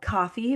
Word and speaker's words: Ko-fi: So if you go, it's called Coffee, but it's spelled KO-FI, and you can get on this membership, and it is so cheap.